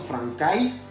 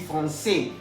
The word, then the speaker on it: français: Ya habíamos visto hace unos minutos atrás que la AI se pronuncia E. Entonces no diremos francais, vamos a decir français.